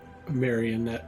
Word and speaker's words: Marionette: Next is Marionite. Am I pronouncing that right? Marionette, but the way you said Mario Marionette.